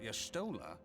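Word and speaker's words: Y'shtola: can't very well send him to limsa without y sta can we meilia oh that's how you pronounced that I've only ever seen it written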